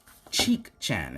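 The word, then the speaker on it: Chicchan: is gate 4 cheek chan is how you say it yep the common mind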